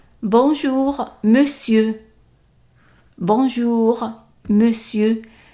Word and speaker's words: monsieur: Even though here we have an on, but we pronounce it as an e, it's an exception. Usually we pronounce it as mon, but in this word here we pronounce it as me. So, monsieur, and the R at the end is silent.